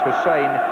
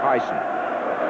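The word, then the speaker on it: Hysén: in his perfect English that his name is pronounced Hussein and not Tyson but there's no introduction needed for this young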